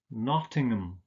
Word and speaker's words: Nottingham: you like ham but you don't don't pronounce this ham you usually just pronounce it um so it's not Birmingham but Birmingham its Chatham Dagenham Nottingham Oldham so it's just